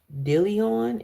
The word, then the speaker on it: Dillion: Okay, dial. Um, Dillion, it's how it's pronounced.